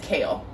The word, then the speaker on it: Kayle: she's an iron fist it is kale that's her name why do they spell it like Kaylee why they gotta be